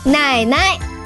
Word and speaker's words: 奶奶: 奶 third tone, but the second 奶 will be pronounced as a neutral tone. 奶奶 Becky, what happened?